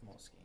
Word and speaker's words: Moleskine: Some notations in my Moleskine notebook. Moleskine? Moleskine? That's how it's actually pronounced. It's Moleskine.